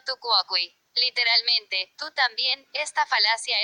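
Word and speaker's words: tu quoque: Pronunciado Fukuoka.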